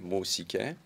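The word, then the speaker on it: μουσική: qui est grec moustiquaires si j'essaye de le prononcer à l'antique tel qu'on peut à peu près le restituer mossi caire et ça n'est pas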